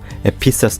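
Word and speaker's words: Ephesus: 같습니다 한 교회식 살펴보겠습니다 에베소 교회는 영어로 에피소 처치로 발음하는데 소아시아의 에피소 지방의 교회들을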